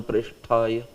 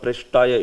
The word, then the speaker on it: Krishna Preshthaya: Krishna Preshthaya. That Taya, instead of Preshtaya, it is Preshthaya. Tha, the Mahaprana, right? Tha, the second one.